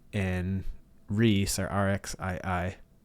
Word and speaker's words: RXII: Marked by 8, and Reese, or RXII. I'm pretty sure you say his name Reese.